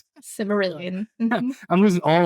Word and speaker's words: Silmarillion: I've never read the Cimmerillion, right? I think it sounds right. Silmarillion.